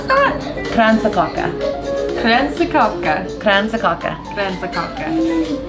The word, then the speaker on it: Kransekake: How do you pronounce that? Kransekake.